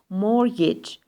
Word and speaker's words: mortgage: do not pron ounc the t is silent mortgage Social Security salary so